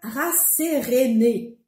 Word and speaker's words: rasséréner: Et pourtant, pour mémoriser ce verbe, il suffit d'observer son radical. Il est le même que dans le nom sérénité. P calme. On le prononce donc rasséréner, qui veut dire rendre quelqu'un serein.